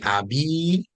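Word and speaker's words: أبي: say it again okay you gotta stretch out that last part of it guessing I'll be um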